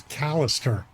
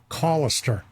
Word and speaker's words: Callister: I always thought it was Callister, but he I said, think "Oh, everyone no. does. Yeah, it's Collister. Like, call him Collister."